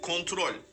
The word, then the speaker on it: kontrol: Tamam doğrusunu öğreteyim. Kontrol. Krontrol. Hayır kontrol. Kontrol.